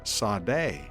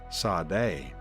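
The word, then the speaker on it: צדי: This word is Sadeh. Sadeh.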